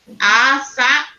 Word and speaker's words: açaí: Eu já vi que o acento está em cima do i. Então, não pode ser açaí. Precisa ser pronunciado assim, ó. Falado assim. Açaí. Porque o acento, ele eleva o tom da nossa voz toda vez que a gente fala.